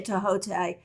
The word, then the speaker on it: Thoth: Crowley is also called Toth, Toth, Thoth, Tahote, depending on how you pronounce that. My Egyptologist friends all say Tahote, but in the tarot world, we mostly say Toth or Toth.